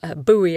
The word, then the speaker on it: buoy: to do is to boy up that book or buoy i think americans say boy up but you know sort